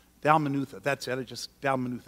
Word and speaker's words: Dalmanutha: you would have thought that was the right pronunciation but it's not Dalmanutha that's it I just said what I said